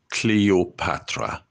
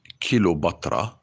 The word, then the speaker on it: Cleopatra: Greek Macedonian petalumaic Queen her name is Cleopatra not kilobatra and not kill you batra I go with you